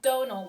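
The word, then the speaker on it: Domhnall: say his name but damiel gleason is that how you say it donal like tonal with a d okay donald gleason that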